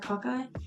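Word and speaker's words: cocci: the Ki how do you say it CCI cocky yeah so aen used a light microscope to examine pus samples identifying cockeye which is the round bacteria that are often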